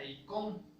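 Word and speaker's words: εἰκών: En este caso, la palabra imagen está refiriéndose a una palabra griega que se pronuncia eikon, ¿sí?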